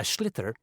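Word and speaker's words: sliotar: you have to get this ball called a schlitter that's s-l-i-o-t-a-r so it's not spelled the way it's pronounced you hit it into the net for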